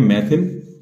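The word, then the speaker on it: methyl: इसको बोलते हैं मैथिल, है ना। स्पेलिंग में मिथाइल ही आएगा, कुछ लोग मैथिल बोलते हैं, कुछ लोग मिथाइल बोलते हैं, तो मैथाइल, है ना।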